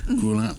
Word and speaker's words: Grullon: We have a special guest with us today, Evelyn Grullon. Yes. Grullon, I pronounced it right? Grullon. Grullon, put the mic closer.